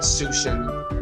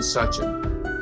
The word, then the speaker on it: Suchan: session and it's touching not soutien not su Shan it's Susan such a so a lot of people mispronounced her her her last name so but thank you